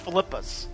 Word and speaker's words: Philippa: I keep saying Philippa. Philippa's. It's pronounced Philippa's.